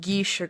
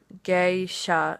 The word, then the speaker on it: geisha: the girls that the GIS came back calling gisha girls are the prostitutes true geisha geisha is how you pronounce it geisha are the highest class of